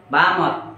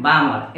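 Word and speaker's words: Balmer: होता है बालम सीरीज बामर क्या बोलते हैं बामर एल साइलेंट होता है क्लियर बी ए एल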